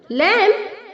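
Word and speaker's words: lamb: okay lighters lot ring लैम लैंप लैंप यहां पर बच्चों लैम में बी साइलेंट है तो आपको लैंप नहीं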